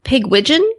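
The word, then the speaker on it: Pigwidgeon: wrong because i do but i believe it's pig widgeon yeah absolutely just like pigeon butt pig it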